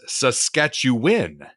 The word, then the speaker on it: Saskatchewan: don't feel too bad the proper way to pronounce as I said it Saskatchewan is Saskatchewan Saskatchewan am I saying it